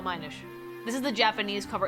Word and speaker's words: Minish: The Minish, the title is pronounced like the word diminish. No, Minish.